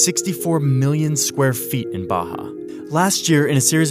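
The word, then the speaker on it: Barra: is a place called Baja RS are pronounced like H in Portuguese this is a new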